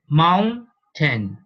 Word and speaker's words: mountain: So pay attention to this pronunciation. Mountain, mountain, mountain.